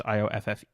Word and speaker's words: Ioffe: Julia Ioffe, I'm not sure how to say her last name, it's Ioffe.